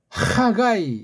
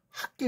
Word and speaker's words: 하가이: 위험천만에 하가이 예 이게 이름이에요. 하가 아니요. 하 하가이 이걸 왜 학게 그럽니까? 하가이 그래야지 걔네 발음대로 하가이 아이자를 묶어서 애자로 한 거예요.